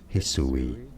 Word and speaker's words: Hisui: pronounce that name actually let's see how you pronounce it is how this region is to be said Hisui and now you know like And subscribe if